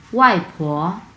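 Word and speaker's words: 外婆: ওয়াইফো ওয়াইফো ওয়াইফো। হ্যাঁ, প্রথম অংশটা হচ্ছে 4 নাম্বার টোন, সো আমরা উচ্চারণ করবো ওয়াই এবং পরের অংশটা হচ্ছে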